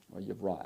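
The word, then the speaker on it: וַיִּבְרָא: You know, it's a shorter I sound because it's a closed syllable. Okay. Vayivra, actually.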